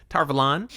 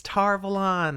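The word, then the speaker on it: Tar Valon: tarvalan has stayed strong did you see that it almost tumbled out wrong so proud of you for being wrong and it was great and the tv show has said it right it's tarvel on i'm gonna stick with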